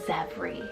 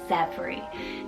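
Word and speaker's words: Zevre: It's the name Zevri, spelled Z-E-V-R-E, Zevri. Now, you can definitely spell it a few different ways.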